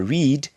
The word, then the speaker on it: read: But for read, the pronunciation changes in the simple past and past participle. It becomes read. So we say read, read, read.